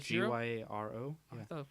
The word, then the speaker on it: gyro: Gyro. I thought it was called Euro. You can say it the American way and be a gyro, or you can. I think the correct pronunciation is hero.